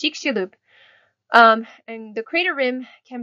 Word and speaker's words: Chicxulub: I'm sorry, my pronunciation is bad. It's Chicxulub.